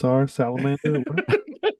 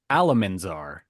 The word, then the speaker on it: Alamanzar: Well, let's check on salamander. It's okay, Oliver, because I said it wrong. It was actually Alamanzar.